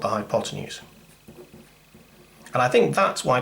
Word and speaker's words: hypotenuse: And I think that's why people find Pythagoras' theorem scary and tricky, because that word's got all of 3 syllables and some funny Greek spelling. 4 syllables, good job counting that.